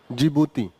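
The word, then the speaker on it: Djibouti: जिबूती कहां पे है जिबूती डी साइलेंट है डी पहले होता है जे आई बी ओ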